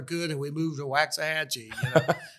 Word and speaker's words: Waxahachie: He goes, "I finally got to where I could, and we moved to Waxahachie." So, the T is silent.